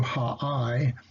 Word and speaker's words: Ai: Now, as you see in my notes here, Ai is Hebrew ha'ai. Ai apparently only has one syllable, not two as we tend to use.